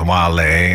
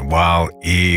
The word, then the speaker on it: Wale: The boy, Wale, pronounced Wale, not Wale or Whale or whatever, of Washington, D.C., grew up believing that he'd never truly be happy until the day he met his soulmate.